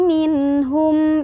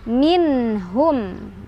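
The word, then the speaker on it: مِنْهُمْ: Minhum ya, bukan minhum tapi minhum, nggak boleh mantul.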